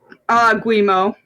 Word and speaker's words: Guillemot: It says Ubisoft reportedly working on buyout plans, currently looking for a deal that would allow, how do you pronounce that guy's last name? Guillemot.